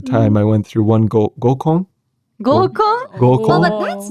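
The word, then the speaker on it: 合コン: gōkon. gōkon.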